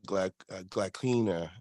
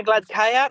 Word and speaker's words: Gladkaya: I know you definitely have trained with Fia and all, but also against Irina Glaklina, I believe is how you say her last name. Irina Gladkaya, yes.